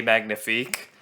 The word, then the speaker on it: magnifique: don't get me wrong I know it's pronounced say Magnifique but I thought it